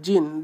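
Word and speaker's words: djinn: का जो जिन है जीन देखिए य लिखा गया है डी डीजन लिखा गया है बट आपको इसको प्रोनाउंस करना है जिन लिखा है डिजन बट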